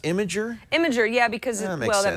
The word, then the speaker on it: Imgur: images you might have heard of it as imer that's how I used to pronounce it it's pronounced imager imager yeah because well that makes more sense